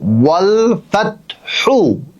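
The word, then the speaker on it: والفتح: যখন আপনি ওয়াওয়ের উচ্চারণ করবেন তখন আপনার ঠোঁট গোল করবেন, ওয়াল ওয়াল ফাতহ, পা পা। যখন ফায়ের উচ্চারণ করবেন তখন আপনার নিচের ঠোঁটের উপরে আপনার উপরের যে মাড়ির দাঁত, এই দাঁত লাগবে।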